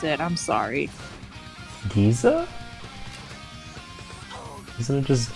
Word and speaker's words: Giza: oh no no did you say pyramids of gaza oh yeah i don't know how to pronounce it i'm sorry giza isn't it just g-i-z-a oh yeah giza oh giza i don't remember